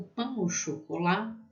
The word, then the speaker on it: pain au chocolat: O pain au chocolat, qual tem som de O, né?